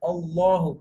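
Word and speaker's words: الله: Okay, the first case is that before Allah, if it is fatha or dhamma, then Allah should be pronounced thick, full mouth, like Qul huwallahu ahad, Allahu, Qul huwallahu, full mouth, thick.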